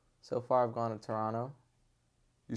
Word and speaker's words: Toronto: Toronto you say it you say it correctly too some people say Toronto absolutely not I don't understand why the other T is silent though someone got to explain that I don't know it's just something about it it's a silent te I guess it's it's the silent te oh that's that's actually